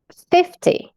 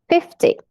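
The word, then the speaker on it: fifty: 50, 50. Então, quando a gente entra nos números, nas dezenas, a primeira sílaba é a tônica.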